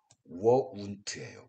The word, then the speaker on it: won't: 여기 또 contraction 축약형 상태에서는 won't예요. won't. 이것이 발음을 우리가 정확히 구별해 줘야 되는데 굳이 이거를 여러분들한테 표시하기 위해서 얘기해 준다면 이렇게 발음해 줘야지 이 발음과 구별할 수 있습니다.